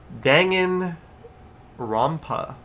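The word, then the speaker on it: Danganronpa: Dangan Rampa. Dang and Rampa.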